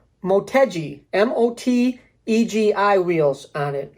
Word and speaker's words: Motegi: had uh i said let's see i could pronounce this right motegi m-o-t egi wheels on it all right um